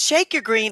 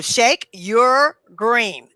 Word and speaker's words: ShakeURGreen: Yes, the first thing I want to go over is Shake Your Green is spelled funny because people say that's not how you spell your.